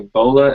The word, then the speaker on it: bola: of got like a Bola effect now I didn't say Ebola I said Bola like bolo I don't know how